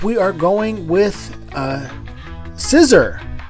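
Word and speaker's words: Scizor: are going with uh scissor is what I'm told it's pronounced as I I like to call it Shyer or or Shor people tell me it's scissor um so scissor is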